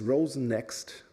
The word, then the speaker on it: Rosenxt: probably already asked yourself how the heck is that pronounced and that's Rosen next and even Rosen next might Bell whistle a bit I think because it sounds like Rosen and there's a reason